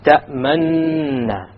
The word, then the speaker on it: تأمننا: You show your lips moving to be a dhamma, but you make no pronunciation. تأمننا.